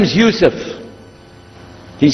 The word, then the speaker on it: Yusuf: la my name is Yousef can you say Yousef let me say Yousef you're very good I wish you teach my my wife she keeps mispronouncing it she calls me useless alhamdulillah now how many